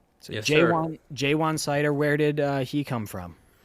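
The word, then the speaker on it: Ja'Juan Seider: It's pronounced J1 Sider. So yes, J1 Sider, where did he come from?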